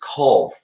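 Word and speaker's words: Cobh: ireland um one of the places mentioned is cove um it's spelt off top of my head is it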